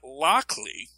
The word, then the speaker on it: Lockley: Now, some people would pronounce it Lockley. But like how Bucket can just as easily spell bouquet, I often pronounce it Loxley.